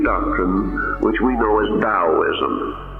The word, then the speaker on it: Taoism: which we know as Daoism pronounced as though it was spelled with a d but actually spelled with a t so it a spelled